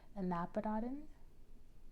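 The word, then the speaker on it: anapodoton: just too many cooks that is actually an annapodan okay so that's how you pronounce that and nabadatin so an anapadadin is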